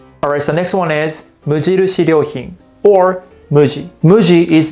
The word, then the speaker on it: Mujirushi: And of course, I got this blanket from Mujirushi. Comfy. So repeat after me. Mujirushi. Mujirushi.